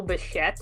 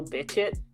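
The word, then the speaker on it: Bichette: I found out today that not today, yesterday that it's Bo Bashette and not Bo Bitchet.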